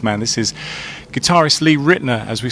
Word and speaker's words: Ritenour: else, like America, says Ritenour, but there are variations, right? That's right. Ritenour is the English pronunciation, but it's a Huguenot name. It's part French, part German.